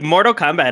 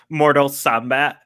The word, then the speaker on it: Mortal Kombat: really like you know pronounce it with a hard K yeah yeah Mortal Kombat wait what like a